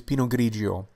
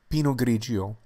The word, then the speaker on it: Pinot Grigio: The pronunciation of this wine grape is Pinot Grigio, Pinot Grigio, Pinot Grigio.